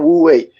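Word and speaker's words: Wu Wei: I I I I think it says Wui. Is that correct? Yes. You you've got your Chinese pronunciation perfect. It's called Wui.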